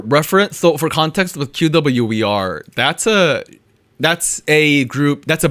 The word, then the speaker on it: QWER: I don't know how to pronounce this group. QWER. Is it QWER?